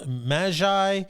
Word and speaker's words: Magi: Now, after Jesus was born in Bethlehem of Judea in the days of Herod the king, behold, Magi from the east arrived in Jerusalem, saying, now it's pronounced Magi, and it's technically a caste of wise men specializing in astrology, medicine, natural sciences.